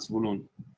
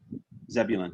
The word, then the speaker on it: Zebulun: You can use it's the very Hebrew pronunciations. I like that. That's okay, helpful sure. to me. It's okay to use.